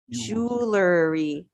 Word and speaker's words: jewelry: So it's it's 3 syllables, 3 sounds. Jewel, like this. Jewel. E. Jewelry. Jewelry. Perfect. Jewelry. Jewelry. 3 sounds, not jewelry, but jewelry.